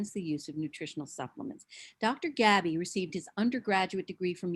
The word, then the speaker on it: Gaby: And I pronounce it rhymes with baby. It's pronounced Gaby.